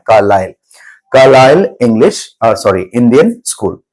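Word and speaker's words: Carlisle: ये ऐसे तो आपका ISLE है, लेकिन इसका प्रोनाउंसिएशन होता है कार्लाइल, कार्लाइल English sorry Indian school.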